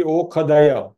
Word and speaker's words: ओषधय: Shanti ओषधय is pronounced Shanti ओखदय। Hari ji, that is हाउ द मंत्र are pronounced. श का उच्चार ख होता है।